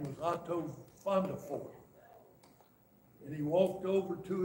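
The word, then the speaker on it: Vandervoort: But none of the red, V-A-N-D-E-R-V-O-O-R-T. But these are pronounced F's in Dutch. Fondefort. And so none of the rednecks down in South Mississippi could say Fondefort very good.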